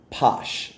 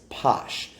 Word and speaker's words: Pox: before this is called posh yes it's spelled poxp-o but the pronunciation is posh this is a 42.2